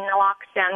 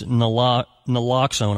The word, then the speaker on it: naloxone: And I know a lot of places, like in 1999, community opioid overdose prevention programs started distributing naloxone, which I'm sure we'll talk about, to bystanders